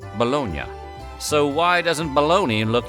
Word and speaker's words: Bologna: That's right, hide your shame, bologna.